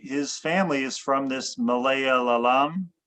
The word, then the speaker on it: Malayalam: So what Darren is talking about he his family is from this Malaya lam. How do you pronounce it?